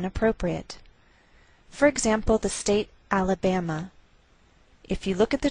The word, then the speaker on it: Alabama: So the greater stress is on this third syllable. We say Alabama.